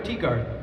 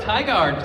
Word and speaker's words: Tigard: So, from Willow from Tigard or Teagard? I said it right the first time. Woohoo! Tigard.